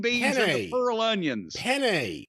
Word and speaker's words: penne: Penne, not penny. Well, you say penne and I say penny, and we ate it just the same. It's penne.